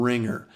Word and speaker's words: RingR: to iTunes App Store look for ringer and it's spelled r-i-n-g-r and it's uh able